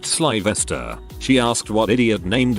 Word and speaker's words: Sylvester: When the teacher was taking attendance, she called upon a kid called Sylvester and she pronounced it Sylvester. He corrected her and said it was pronounced Svesta.